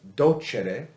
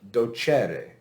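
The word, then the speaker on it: docēre: teach it's not pronounced docere it's pronounced dochere because of the vowel in the second to last syllable okay so there is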